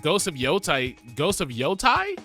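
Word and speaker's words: Yōtei: Is it Yotay or Yotai? Sorry, I haven't played the game enough. I don't remember how to pronounce it yet. Ghost of Yoteay just Ghost of Yoai. Shut up. Ghost of Yoai just came out. It's definitely Yotay.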